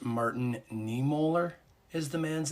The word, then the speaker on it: Martin Niemöller: I think it's pronounced Martin Niemöller is the man's name.